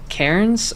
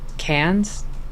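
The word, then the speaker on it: Cairns: Cans like beer cans, which is how you say bacon in Jamaican.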